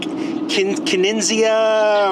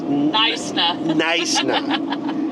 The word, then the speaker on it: Knysna: And so this town, I was like, Knysna, or trying to pronounce it, and instead it's Knysna. And so we had that one way wrong, but now we've got it right.